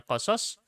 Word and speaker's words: qasas: Mau sebut bacanya qasas, mau dibaca qisas juga benar.